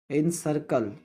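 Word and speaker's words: encircle: इन सर्कल, इन सर्कल, इन सर्कल, इसमें हमारा क्या है? आई और आर हमारा साइलेंट है।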